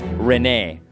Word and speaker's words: Rene: Have you always pronounced it Rene? Rene Figaro? Sabin Rene Figaro? Sabin Rene Figaro? Well, I also pronounced it Rene, but check it out. In Japanese, it's Rene.